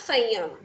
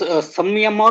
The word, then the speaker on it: Samyama: Yeah, actually, they write in different ways, but Okay. yeah, somewhere it is sanyam, samyam. Okay, different pronunciation, but the meaning is same.